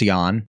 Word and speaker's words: Jann: Yan is like and I called him Jan earlier I guess it's Yan and this is this is that rare once in a year maybe once every two years where where will pronounces a name correctly and I don't oh okay I'm sure